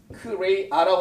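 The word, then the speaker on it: χρεία: 부족하다는 이 말은 크레이아라고 하는데요. 크레이아라고 해요. 한국말로 발음은.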